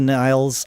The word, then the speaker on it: Nilles: And I was aware of Anika Nilles. I believe Geddy pronounced it Anika Nilles. I thought it was Nilles, but I'll go with Geddy's pronunciation.